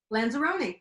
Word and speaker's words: Lanzarone: And am I pronouncing his last name when I say Lanzarone? Lanzarone, pretty good.